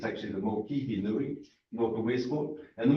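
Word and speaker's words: Mokihinui: Marie has pointed out that actually understanding the Maori language, and we've got the Mokanui, people talk about the Mokanui, it's actually the Mokihi Nui, north of Westport, and the Mikanui River down here.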